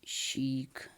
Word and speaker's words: chic: it's I think a French word it just pronounced a chic like this chic sheet okay so it gives us the sound